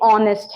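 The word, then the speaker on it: honest: हम कॉन्फिडेंट है ऑनेस्ट इस वर्ड को प्लीज ऑनेस्ट मत बोलिए ये ऑनेस्ट है एच साइलेंट होता है ऑनेस्ट ईमानदार सिंसियर आपको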